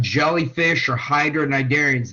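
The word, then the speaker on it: cnidarian: them they'd be gone narian are things like jellyfish or Hydra narian the sea is silent by the way they're all United by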